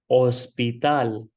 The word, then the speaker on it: hospital: Again, hospital starting with H. H is silent, so the pronunciation is hospital.